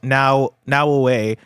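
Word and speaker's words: Naoe: The banner says blessing Naui should be pronounced now away instead of Naui. The video I watched with the developers talking, they said Naui.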